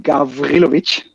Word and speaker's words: Gawrilowicz: try without previous training it's pronounced gavrilovic so good luck with